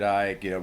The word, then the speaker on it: Icke: like the whole David Icke, reptilian, theory, or whatever. And then that's worth looking into if you're not hip to that. Ike is spelled ICKE.